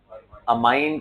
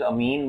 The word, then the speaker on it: amine: अमाइन कुछ लोग बोलते हैं, कुछ अमीन बोलते हैं, डिपेंड्स हाउ यू प्रोनाउंस. हाँ, सो I prefer saying it अमाइन only, right? अमाइनो acid, तो वहीं से ये नाम है अमाइन. अमीनो एसिड, हाँ बोल सकते हो, बोलते रहो, दोनों ही बोलते हैं लोग.